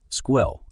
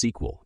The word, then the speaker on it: SQL: Computing and data visualization squill often pronounced SQL is used for managing and